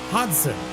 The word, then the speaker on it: Hodgson: Happy guy right here, that G in his name is apparently silent. So it's Hodgson is how he likes to pronounce it.